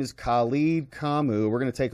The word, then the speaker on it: Khalid: Mayor Khalid, pronounced Khalid, is leading a generation of young activists from protest to politics.